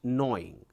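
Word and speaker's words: gnawing: next one is knowing here g is silent knowing knowing means biting steadily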